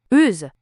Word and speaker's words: euse: Now, there is also a feminine form for this ending, which is Euse. Euse. This is pronounced the same but with a Z sound at the end.